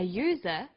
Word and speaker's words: user: And where the vowel U is pronounced y, we use a. So we say an umbrella, but a user, because user sounds like it begins with a Y.